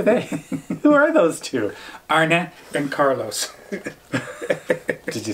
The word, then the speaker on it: Arne and Carlos: Arne and Carlos.